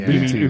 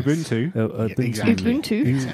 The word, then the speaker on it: Ubuntu: us about the uh how to pronounce auntu or Ubuntu Ubuntu Ubuntu you got say it with that South African accent I try uh we